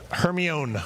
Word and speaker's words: Hermione: who are my age i had no idea how to pronounce hermione granger i was just mispronouncing it for seven years before i heard it in audio form and i was like oh hermione was uh how i